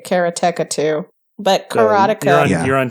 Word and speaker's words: Karateka: Correctly is karateka. Karateka. Okay, but so how he does says karateka. Okay. Right. I think I say karateka too.